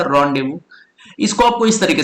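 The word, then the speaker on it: rendezvous: देखिए, अब क्या करना है आपको कि ये जो वर्ड है साथियों, रेंडेजवस जो था, ठीक है, जिसको आपने क्या पढ़ा, जिसको आपने पढ़ा रॉन्डेवू। इसका रियल प्रोनाउंसिएशन क्या था? रॉन्डेवू।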